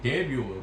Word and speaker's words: debut: 뭐 했을 때 그의 최초 앨범이 데뷔, 불에서 온 말인데 불은 끝에 자음을 발음하지 않잖아요.